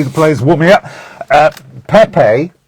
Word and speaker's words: Pepe: players warming up uh Pepe or pep whichever way you want to pronounce his name they they they they say pep in Portugal uh 80 classicos I